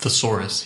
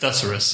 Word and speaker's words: thesaurus: it's an old joke Frank doesn't pronounce it thesaurus he pronounces it therus therus and when I asked him what the [